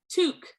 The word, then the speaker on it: toque: Oh, sorry, the first one, 1 syllable, toque. Toque.